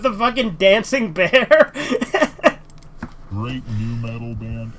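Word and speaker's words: nu metal: course it's new metal.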